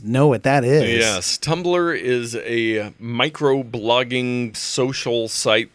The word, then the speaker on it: Tumblr: we have to say it's spelled t um BL are yes there's no other vowel in there and this was originally